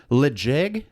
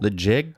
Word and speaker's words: Ledaig: Is the Ledaig. Ooh. Ledaig. Legit. Yeah, Ledaig 10-year. I'm going to spell it.